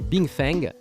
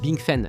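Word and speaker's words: 冰粉: On le prononce Bing Far, mais vous le prononcez Bing Feng. Bing Fan. Bing Fen, oui d'accord, Bing Fen.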